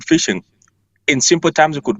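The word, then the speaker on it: phishing: do they call it this fishing and spelled with a pH so tell us a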